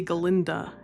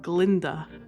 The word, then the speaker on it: Galinda: Dillamund can't say Galinda. He pronouncifies it Glinda and Galinda is a little bit being about it.